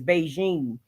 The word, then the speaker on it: Bigen: Is Beijing. It's spelled Bigen, but it's like a Chinese hair dye, and it's like supposed to be one of the darkest.